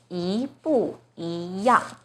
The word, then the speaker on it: 一不一样: Now the first E is followed by a fourth tone, 不. So the first E itself should be the second tone, 一不一样. So problem solved. This phrase is pronounced as 一不一样.